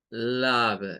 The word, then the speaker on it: love: Ahora, la E no suena, pero miren, esta O suena como au, au, love, suena la V al final, love.